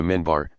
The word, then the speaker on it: minbar: steps of a pulpit called the minbar pronounced mi n bar